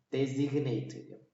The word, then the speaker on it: designate: designate는 sign에서 D가 붙으면은 디자인이지. 근데 거기다가 8가 붙으면은 designate. 발음이 바뀌어. designate.